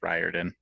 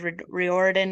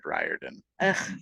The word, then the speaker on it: Riordan: really good intro also I think it's pronounced Riordan I've said reordin my whole life and I'm not changing it I thought it was reordin too but I heard it said Riordan fine I'll fix it